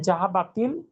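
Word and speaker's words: ذَهَبَتِ: এই পড়তে হবে জাহাবাতিল বিন্তু। সেই ব্যাখ্যাটাই নিচে দেয়া আছে, দেখেন। জাহাবাতের পর আলযুক্ত শব্দ আসলে উচ্চারণের সুবিধার্থে জাহাবাতকে পড়তে হয় জাহাবাতি।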